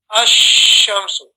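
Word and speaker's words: الشمس: Whereas a shamsi letter, the lam is joined onto the letter, the main letter itself, and you read it as one combination.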